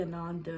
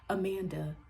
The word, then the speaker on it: Ananda: first name you know people see Ananda and they're like Amanda Ananda don't you ever